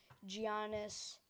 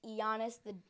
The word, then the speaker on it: Giannis: your friends might say, Giannis, and then you might catch on saying that. Don't. Please do not catch on. Just tell them it's Giannis. The G is silent.